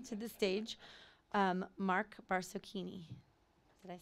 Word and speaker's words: Barsocchini: so please welcome to the stage um mark barcocchini did i say that right yeah all right